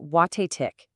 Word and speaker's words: Watatic: So, any guesses where the emphasis, the main punch of the word is going to go? You say it watt tick. See how the stress is right there in the middle?